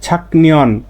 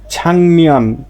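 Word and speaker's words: 작년: আচ্ছা দেখেন, তাহলে আর উচ্চারণটা হবে কি? ছাকনিয়ন। কিন্তু এ ছাকনিয়ন না হয়ে দেখেন গিয়কের পরে আর পাইছি কি? নিয়ন পাইছি রুলস অনুযায়ী। তাহলে এ গিয়কের উচ্চারণটা ক হবে না, হবে কি? ইয়ং। তাহলে উচ্চারণটা হবে কি? ছাংনিয়ন।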